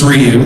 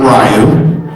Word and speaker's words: Ryu: And just to clarify, it's Ryu, not Ryu.